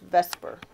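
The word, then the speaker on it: VSEPR: is a reflection of what is called the Vesper Theory veence shell electron pair repulsion it's pronounced Vesper this Theory St states that since all El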